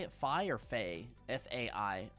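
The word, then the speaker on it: Fai: Fi or Fay? F-A-I. Fi, thank you, and welcome to Ray Tier.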